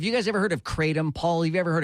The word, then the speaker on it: Kratom: but suffice to say uh the word is pronounced Kratom for the powder that comes from the plant